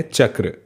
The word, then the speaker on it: चक्र: च और क्र से मिलकर के ये बना है। इसका उच्चारण है चक्र।